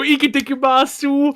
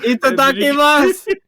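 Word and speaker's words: いただきます: Yeah, you're gonna go to Japan and go ikitakimasu. Itadakimasu. No, you fucking like the full anime. You gotta pronounce every U at the end of every.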